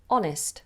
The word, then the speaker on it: honest: you go can you pronounce honest no H Oh honest I'm honest honestly I'm